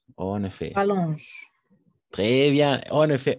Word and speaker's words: rallongent: En cette saison, les jours rallongent, en effet. Rallongent. Très bien, en effet, ENT à la fin, on ne prononce jamais, attention.